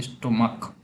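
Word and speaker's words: stomach: कुछ वर्ड ऐसे होंगे जिनके अंत में सी एच तो होगा लेकिन उनका प्रोनाउंसिएशन क होगा, जैसे स्टोमक तो इसका प्लूरल हम बनाएंगे स्टोमक्स।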